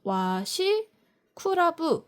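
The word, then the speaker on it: 和紙倶楽部: 내가이 전통 깊은 도시에서 일본적인 걸 사 왔다라고 할 만한 기념품 찾으시는 분들은 와시크라브라고 해 가지고 이게 화지 그리고 구락부라고 쓰거든요. 이렇게 써 가지고 와시 쿠라브 와시클럽이라고 읽어요.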